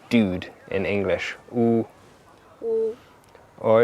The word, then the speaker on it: ü: U. U. U. There's a good way to pronounce U. Pronounce E first, and then push your mouth round.